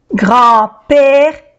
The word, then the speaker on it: grand-père: Grand-père, A-N-E-N. Grand, no se pronuncia la D.